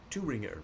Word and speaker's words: Thueringer: At least that's how I suppose the map is pronounced. It's a German map spelled Thueringer. Thueringer. At least that's, when I put it in an online translator, that is what the German voice says in terms of how it's pronounced.